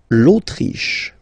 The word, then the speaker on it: Autriche: L'Autriche, okay, remember, sh here. L'Autriche, l'Autriche, okay?